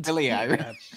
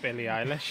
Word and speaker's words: Billie Eilish: Billy Irish. Billie Eilish.